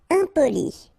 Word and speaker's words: impoli: Impoli. Okay, remember EM and then a consonant after, so nasal, impoli.